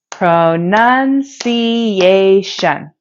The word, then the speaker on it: pronunciation: at the word pronunciation it has five syllables pronunciation the primary stress falls on the fourth syllable a because it is pronounced more loudly and with a higher pitch compared to the other syllables pronunciation pronunciation words can